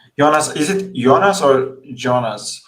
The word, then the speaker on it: Jonas: Jonas, is it Jonas or Jonas? How do you pronounce it? Yeah, in German it's Jonas, but Jonas is also fine.